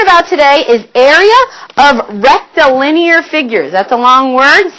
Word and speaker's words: rectilinear: today is area of rectilinear figures. That's a long word. Say it with me. Rectilinear. How many syllables is that? Rectilinear. That's a long word. 5 syllables, I heard you say.